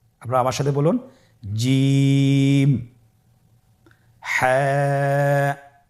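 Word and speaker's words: ح: আমরা যেটা শিখবো সেটা হল হা এর মধ্যে কোন নুক্তা আমরা দেখতে পাচ্ছি না হাফটি কিভাবে উচ্চারিত হবে হাফটি উচ্চারিত হবে কন্ঠনালী মধ্যখান হতে গলা চিপে ধরে আপনি উচ্চারণ করুন আপনার আমার সাথে বলুন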